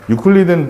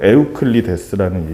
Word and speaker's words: 에우클리데스: 유클리드는 다 참고로 영어식 발음이고 원래 이름은 유클리드가 아니야. 원래 이름 뭐니? 내가 예전에 얘기했는데. 유클리드는 영어식 발음이고 당시에 불렸던 이름으로 제일 갖고 에우클리데스라는 이름이야. 원래는 그리스식으로 에우클리데스를 영어식으로 유클리드라고 읽은 거야.